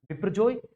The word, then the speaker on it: Biparjoy: ये इस प्रकार से इसका सही जो प्रोनाउंसिएशन है वो ये होगा बिपरजॉय, और ये बांग्लादेश के द्वारा दिया गया है।